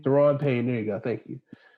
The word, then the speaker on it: Daron Payne: Daron Payne. Daron Payne.